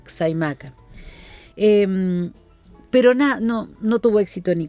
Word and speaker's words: Xaimaca: Escribe Jaimaca, se escribe con X, Xaimaca.